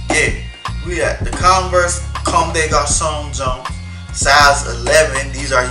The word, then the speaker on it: Comme des Garçons: I know how to say it's Comme des Garçons.